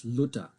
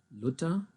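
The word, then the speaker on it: Luther: this one here, it's Luda. Notice that the H in this case is totally silent, the H. We don't have a TH sound in German. So here, right here, you have Luda.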